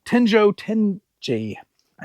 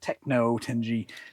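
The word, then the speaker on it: Tenjo Tenge: Uh Tenjo Tenj. I sold the manga last week, I think, and I mispronounced it. I think I called it Techno Tenji. This is Tenjo Tenji.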